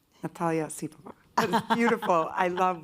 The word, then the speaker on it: Natalia Osipova: Natalia Osipova.